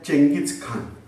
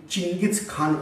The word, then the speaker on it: Genghis Khan: We are pronouncing as Chengis Khan, but original it is said it is Chingiz Khan also. Whereas in English he is marked as Genghis Khan. So like that, various pronunciations are there. So either Chengis Khan, Chingiz Khan or Genghis Khan.